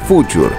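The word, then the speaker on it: Fuchur: la parte inferior también su nombre orig era Future pero para la versión en inglés fue cambiado a falcor Porque alguien notó que la pronunciación alemana sonaba en inglés como Fuck you todo este trabajo hizo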